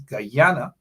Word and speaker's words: Guyana: Guyana you tell them the correct pronunciation is gyana you say oh you